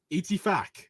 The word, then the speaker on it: Ittifaq: Ittifaq. I'm being completely serious. That's how you pronounce I it.